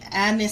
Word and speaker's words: anise: it some of the Anis seeds do not make fun of me yes I say it wrong I normally say anus seeds I caught my that time so if you have